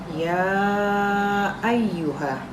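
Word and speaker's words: يا أيها: alaikumus siam ya ayyuha ya ayyuha disini adalah hukum bacaannya yaitu karena ini ada dalam satu kata maka hukum bacaannya dalam mad wajib muttasil di sini cara membacanya itu panjang sebanyak 5-6 harokat ya ayyuha kemudian alladziina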